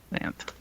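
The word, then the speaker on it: Xanth: Spelled with an X. X an H. Zanth.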